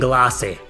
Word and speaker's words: Glace: However, the mysterious Al appears one day alongside 2 idols, Floor and Glace. Well, I guess it's pronounced Glaze in English, but guess what?